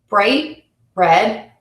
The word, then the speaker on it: bright red: Bright red, bright red.